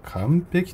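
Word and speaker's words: 完璧: 何て読みますか？そうですね、これは完璧と読みます。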